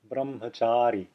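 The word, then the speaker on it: brahmacārī: with a c and it's pronounced as the c in the english word cello cello easy enough a sanskrit example is brahmacari brahmachari and the next one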